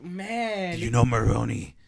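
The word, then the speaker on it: Maroni: like man you know Moroni rhymes with pepperoni he flips he flips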